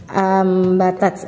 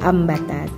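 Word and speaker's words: أَنْبَتَتْ: Kita bisa melihat dari bacaan Quran surat Al-Baqarah ayat 261 ambatat. Nah, ini nun bertemu dengan huruf ba, jadi cara membacanya kayak ada huruf mimnya, ambatat ya.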